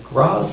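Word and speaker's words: Grá: means love yeah um technically an Irish gay like my name is pronounced wrong I choose to pronounce it gray because Gras sounds stupid I recently turned 53.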